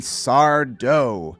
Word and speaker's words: Sardo: the door unlocked and sardo no mister accent on the dough uh russ before i